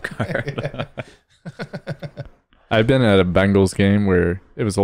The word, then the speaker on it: Bengals: It's not Bengals. Yeah, Bengals, like Bane, like the Batman character.